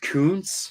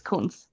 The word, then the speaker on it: Kuntz: I think it's pronounced Kuntz, but it's It spelled is. cunt. Kuntz. Kuntz, yes. Yeah, it's German. Yeah, it's Kunz.